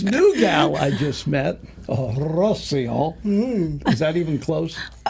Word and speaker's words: Rocío: But Rocío. It's Rocío. Oh, Rocío. Rocío. Rocío. Rocío. Yes. Ooh. You got to roll your Rs.